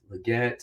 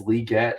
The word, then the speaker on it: Legette: round for Xavier liette Legette again I'll say both pronunciations because he did say that it is leet but everyone calls him Legette I don't know if